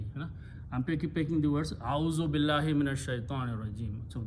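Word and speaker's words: أعوذ: Now a'udhu billah, a'udhu, simple meaning is I, easy to pronounce, a'udhu instead of a'awazu.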